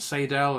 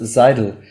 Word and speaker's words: Seydel: yeah um Choice yes zaida is the first choice good whenever in the UK we never know how to pronounce it everybody's calling it Seidel and side we say we say just zeidel but I think the first syllable is a little bit more than the last one so in in